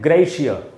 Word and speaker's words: gratia: और इसका प्रोनाउंसिएशन है ग्रेशिया, इसका GRATIA को हम पढ़ेंगे ग्रेशिया। इसको भी अंत में आ नहीं बोलना है, आधा अ है, एग्जाम्पली ग्रेशिया।